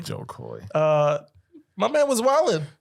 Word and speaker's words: Jo Koy: move into Joe Koy I always feel like saying his name wrong I feel like always saying Joy Koy Joy Koy but it's Joe Koy Jo Koy uh my man was